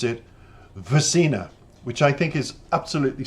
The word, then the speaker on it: SVRCINA: It's SVRCINA, and you would pronounce it with the S and the V, but it's a Swedish pronunciation, and they pronounce it SVRCINA, which I think is absolutely stunning.